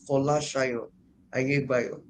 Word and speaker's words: Folasayo Ayegbayo: I'll come back to you on it while I go to Dr. Folasayo Ayegbayo. Dr. Folasayo, am I correct in the way I pronounced your name? You are very correct, ma'am.